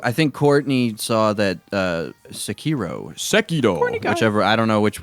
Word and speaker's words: Sekiro: Did you play the new Saikaro? Yeah, Sekiro.